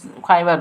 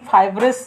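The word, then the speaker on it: fibrous: तो वही होता है फाइबर रूट्स। तो देखो काफ़ी देर से मैं एक चीज़ ध्यान नहीं दिया था, हम लोग बार बार फाइबर रूट्स बोल रहे हैं इसको, इसका सही प्रोनाउंसिएशन फाइबरस रूट होगा, ठीक है, जो मैं ध्यान नहीं दिया।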